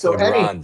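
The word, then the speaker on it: Lagrange: Well, first of all, you pronounce his name correctly. LaGrance.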